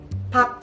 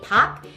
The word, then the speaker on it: Park: And this Park, it is pronounced as Park, but when you write in romanization, we write it as Park, and I know it's nonsense. It's never pronounced as Park. It's not Park Jimin, it's Park Jimin, so keep that in mind.